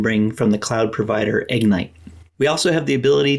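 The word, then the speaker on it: Egnyte: service is called ignite sounds like ignite but it's spelled EG NY T this is after we've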